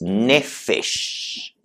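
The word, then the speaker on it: נפש: La tercera palabrita es nefesh.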